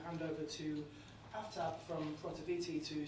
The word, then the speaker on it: Protiviti: Pronounce it right. Sorry? Protiviti. Protiviti. It's Protiviti. So I guess just as an introduction, so Protiviti is a global management consulting firm.